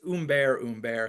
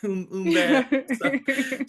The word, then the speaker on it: Humbert: And I think it's Humbert because I did the pronunciation. Right. Oh, And very French, right. Humbert.